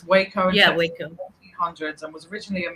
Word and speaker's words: Waco: said three times and I believe that's pronounced Waco in Texas and not wacko I think it's wayco yeah and was originally